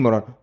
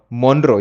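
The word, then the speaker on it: Monroe: I don't know if the Merlin मोरॉन, मोनरो, यस, मोनरो इज the right pronunciation, not मोरॉन I guess.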